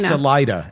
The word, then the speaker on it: Salida: Salida. S A L I D A. Really? See, I would have totally pronounced it the other way.